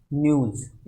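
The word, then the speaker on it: news: transcription क्या होगा, तो न्यूज़ को हम प्रोनाउंस करते हैं न्यूज़ इस तरीके से, सबसे पहले न का साउंड आएगा, फिर ये का साउंड आएगा, फिर बड़े ऊ का साउंड और उसके बाद जय का साउंड, तो न के साउंड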